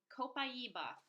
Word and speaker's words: copaiba: number two and i'm going to talk about copaiba that's how you pronounce it co pi e ba I've heard all sorts of variations it's kind of cute so coppa ebah so I do have to say up front